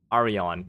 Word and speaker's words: Aron: Alo, my name is pronounced Aron. It's a Greek name.